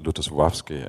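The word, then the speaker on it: Lutosławski: The only person on the entire planet, other than in Poland, who pronounces it well, like Ludosławski, and nobody really knows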